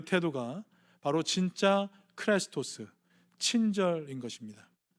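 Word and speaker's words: χρηστός: 크레스토스. 다시 한번 따라해 주세요. 크레스토스. 예, 여러분 발음이 뭐 되게 비슷하지 않으세요?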